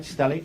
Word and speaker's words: stellate: And am I pronouncing that right, stellate? You are.